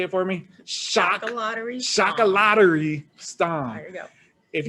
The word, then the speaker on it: Chocolaterie Stam: at shadow lake at say it for me shock a lottery shock a lottery stone if you're like me you may have been pronouncing it incorrectly but it's chaka lottery stom where is that from it's dutch it's dutch